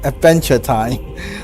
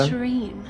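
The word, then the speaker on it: Aventurine: Also, why why why do you name him Adventure Time? Adventure Time. Yeah. Is that how you pronounce that? Adventurine. No, it's adventurine. Not adventure time.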